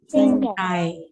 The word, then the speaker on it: 星期: Sing kai. 星期星期 K. Yeah, 星 K. 期 Like K-A-Y almost. It's spelled in Yale 星期 K-E, right.